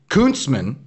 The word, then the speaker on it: Kunstmann: So I believe it's actually pronounced Kunstmann.